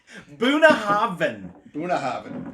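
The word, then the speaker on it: Bunnahabhain: buna the bh is pronounced v so buna buna haven haven in gaelic that means mouth of the river so can i just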